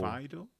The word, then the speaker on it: phyto: Fido? Yeah, PH? phyto, Fido. phyto or phyto. How do you say it? PH would be F.